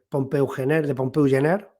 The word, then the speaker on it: Pompeu Gener: Además, a eso le tenemos que unir, que no se dice muchas veces, pues el libro, por ejemplo, de Pompeu Gener, que se pronuncia así, ¿no?